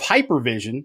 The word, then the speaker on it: HYPERVSN: He is the founder of Hypervision, which is spelled Hyper, HYPERVSN.